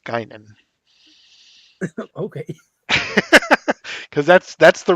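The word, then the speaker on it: Guinan: Trek fan you would know that that's that's pronounced gynan okay because that's that's the role that Rook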